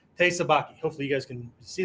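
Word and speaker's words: te sabaki: Baki right hey right I didn't misspell or mispronounce Thai okay somebody brought that up like it's Thai sabaki dude no it's not it's part of it but this is TE okay okay is one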